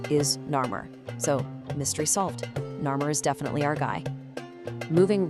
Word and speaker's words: Narmer: The complete spelling of Narr's name uses two hieroglyphs, a catfish pronounced nar and a chisel pronounced mir. Read together via the reebus principle, you get narr.